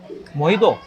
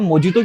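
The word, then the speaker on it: mojito: पता नहीं, यहाँ पे मोहितो। अब मोहितो होगा। अच्छा, अगर ये है मोहितो तो मोजितो क्यों लिखते हैं ये लोग? जे साइलेंट है बट इट्स all about अनंसिएशन, pronunciation भी नहीं, अनंसिएशन।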